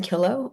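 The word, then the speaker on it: Killough: Uh, next online commenter commenter Kio. Hi. Yes, thank you. Um, my name is Kilo. Um, it's spelled M A D E L E I N E.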